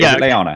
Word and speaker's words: Lyanna: Is it Lyanna?